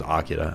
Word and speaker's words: Akira: Figured that one out after I was watching some other show and they said the guy's name was Akira. I was like, oh, that's how you pronounce it.